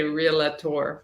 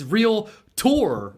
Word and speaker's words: realtor: there's a lot there are people that say relator for whatever reason but that's not a canadian thing yeah that'll drive a brother nuts but yeah that's why they came out with that whole pronunciation it's real tour which is also weird but they made it that weird so that we wouldn't say it the other way so that's good to